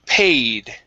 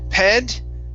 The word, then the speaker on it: paid: next is all right the word paid right here instead instead of ped okay a pay paid